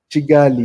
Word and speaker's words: Kigali: How is Kigali? How do they pronounce it there? Chigali. Yeah, they pronounce Oh, it yeah.